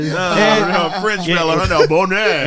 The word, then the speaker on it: Boney: You are battling someone named Boney from Las Vegas. Bonet. Bonet. Even French fella, huh? even lamer. No, French fella, huh? No, Bonet.